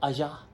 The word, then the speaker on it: Aja: I think it's called Aja. It's not like Donald Trump then. Aja, I think it's pronounced.